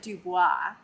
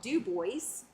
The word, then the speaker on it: Dubois: or you know French, you will pronounce it Dubois. Uh, that is not the pronunciation here in Wyoming. It is called Dubois. Complete with the S.